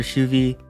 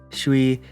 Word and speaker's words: Schwi: I want to focus here mostly on the character Shuvi, Shui, whichever pronunciation you want to go by.